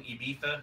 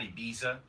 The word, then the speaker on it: Ibiza: am I correctly pronouncing Ibiza because it's not Ibiza?